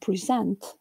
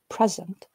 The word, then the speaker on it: present: In the noun, present, we clearly have a peak of higher intensity on the first syllable, whereas the peak on the second syllable in the verb, present, is not quite distinct, probably because the first